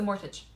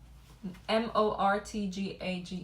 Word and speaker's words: mortgage: Another aspect is the mortage. How do you say that? Mortage. Mort. Let me see. M O R T G A G E.